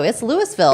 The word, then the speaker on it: Louisville: It's Louisville, It is Colorado. Louisville. That's right. That's how we pronounce it.